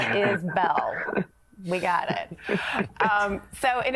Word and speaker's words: Isbell: It's Isbell, not Isbell.